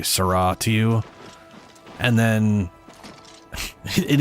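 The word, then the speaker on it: Sera: So, there's a thing they say in Morowind, Sarra, which is spelled S E R A, and that's how you pronounce it.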